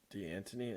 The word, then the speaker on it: D'Antoni: It's Mike D'Antoni and Mark D'Antonio.